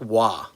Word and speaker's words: Roy: So I was a huge Patrick Wah fan. And it is pronounced Wah even though it's spelled Roy in my opinion arguably the best goalie that ever played in the NHL.